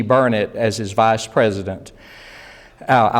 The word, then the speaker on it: Burnett: Burnett as his vice president. I learned the pronunciation of Burnett from one of my longtime favorite DRT friends, and she said it's burn it, darn it, learn it.